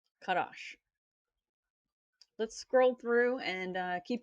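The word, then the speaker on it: חדש: 2318 is Kadash, which is spelled Chat, Dalet, and Sheen, right? So this is a CH, a D, and a SH. Kadash.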